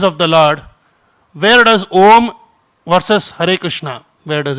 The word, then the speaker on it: Om: It comprises of three Sanskrit Sanskrit sounds. What are they? uh u and m or um so uh uh together becomes om.